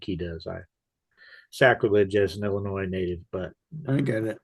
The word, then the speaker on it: Illinois: of the state of Illinois is that line where he talks about the Illinois National Guard. The S is silent for you non Illinois people.